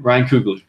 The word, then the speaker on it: Ryan Coogler: Ryan Coogler.